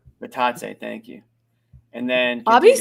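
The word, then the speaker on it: Bitadze: Goga Batadze. Batadze, thank you. And then Bobby's so good at pronouncing names.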